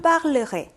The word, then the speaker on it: parlerai: Je parlerai. Je parlerai. 1군 동사는 전부 다 여기 발음이 변하게 됩니다.